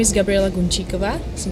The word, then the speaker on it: Gunčíková: you're going to perform my name is Gabriela Concha Cova so it's hard to pronounce it indeed I perform a song that's